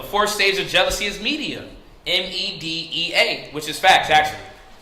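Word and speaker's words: Medea: Media. And you spell that M-E-D-E-A.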